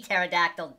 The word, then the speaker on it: pterodactyl: Hey, it's just pterodactyl, not pee pterodactyl, dummy. No, I'm pretty sure it is spelled with a P. It is spelled with a P. The P is silent.